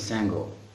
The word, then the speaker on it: Sango: My name is Sango. Sango, it's kind of tango, but it's not tango, it's Sango. So at the place of T you put S.